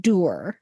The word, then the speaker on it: dour: But you know the word dour, D-O-U-R? They pronounced it doer.